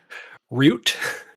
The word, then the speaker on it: Root: Or I guess if you pronounce it wrong, it would rhyme with coot. Root?